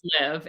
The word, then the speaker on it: Friluftsliv: It's called Friluftsliv, and it basically What is it translates called? What is it called? Friluftsliv. It's spelled Friluftsliv.